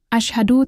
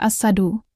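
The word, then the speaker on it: أشهد: Selain itu, perhatikan juga pengucapan huruf shin. Jangan sampai terdengar seperti huruf sin. Asyhadu tidak boleh dibaca as-sadu. Lagi-lagi, ini akan mengubah makna.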